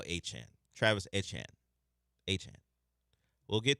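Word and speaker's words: Etienne: I'm reading it and it says ATN, but I know it's now Achan.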